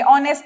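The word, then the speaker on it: honest: ऑनेस्ट में भी यही हो जाएगा, हम हॉनेस्ट नहीं, हम ऑनेस्ट बोलते हैं, तो वहां पे हम एन का यूज करेंगे।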